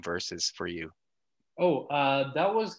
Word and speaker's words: VERSVS: a couple times, but yeah, it's just pronounced as versus. It's just spelled different.